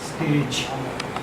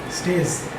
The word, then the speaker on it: stage: Stage. Stage. Okay, so what do they say? Stays. Stays. Okay, so j is something which does not exist in a lot of languages, especially Telugu.